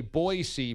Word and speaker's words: Boise: Yeah, in Idaho they have T-shirts that say Boise, BOY-SEE.